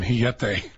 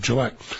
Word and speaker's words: Jillette: And then the one concession I made to his culture was pronouncing his last name Jillette instead of Gillette.